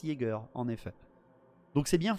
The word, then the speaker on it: Jaeger: chasseur en allemand alors ça s'écrit ea on m'a repris euh sur le le trailer ça écrit j e a mais ça se prononce Jager en effet donc c'est